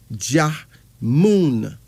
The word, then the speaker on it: Ajamu: Now, Ajamun is spelled Ajamu, but it's pronounced as Ahjamun.